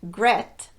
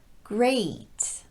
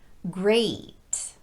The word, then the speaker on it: great: they should be pronounced the long a is made up of two sounds e plus e a you start with e and then quickly transition into e a if you don't do that second part you'll be saying the short vowel e so this word is not pronounced gret but rather great notice how quickly I'm